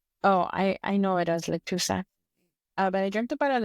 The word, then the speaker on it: lechuza: But one of them, I dreamt about a lechuza, an owl.